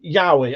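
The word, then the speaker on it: yaoi: V said pronounced Yahi.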